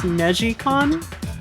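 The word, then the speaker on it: NeGcon: meg con it's uh i think it's technically pronounced negi khan as meshi as twist in japanese but it's n-e-g-c-o-n um it is the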